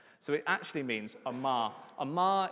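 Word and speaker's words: אמר: Amar is basically the Yorkshire accent version of the Hebrew term.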